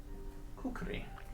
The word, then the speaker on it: kukri: a curved, thick blade, which I believe is pronounced kukri.